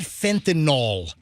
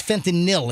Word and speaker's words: fentanyl: First of all, it's not fentinol. It doesn't rhyme with Tylenol. It's fentinil.